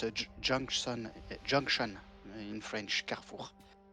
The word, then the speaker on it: Carrefour: Carrefour is French.